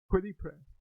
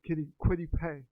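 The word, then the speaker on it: Kwity Paye: Quiddy Pray. Quiddy Pray. No, I'm sorry, Quiddy Pay.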